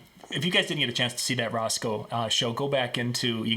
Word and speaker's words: Rosco: Somebody said I mispronounced the name. So let's just be clear. It's Roscoe.